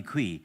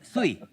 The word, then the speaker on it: Sui: No wonder listen to me thinking, why is he calling me Qui? It's Sui.